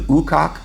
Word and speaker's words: Ukok: And this is where they found a 2,500 year old Siberian princess who would later be named the Ukok Princess. And yes, that is the right pronunciation, I had to look it up.